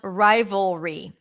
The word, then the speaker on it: rivalry: Okay, how to pronounce rivalry. Rivalry. Vol, dark L, re.